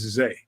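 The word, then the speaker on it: Zah: Right, Zay, Z-A-Y, but it's spelled Z-A-H. I'm going to have to ask that man to come on the show. Zameo. Right. It's spelled Z-A-H, but pronounced Z-A-Y.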